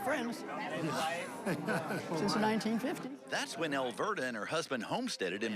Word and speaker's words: Elverda: Dave, you were in Wasilla over the weekend and attended the 100-year-old birthday bash of Tell me, how do you pronounce it? Elverda.